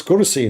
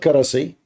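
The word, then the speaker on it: كرسي: I mean, it's kursi, not karasi.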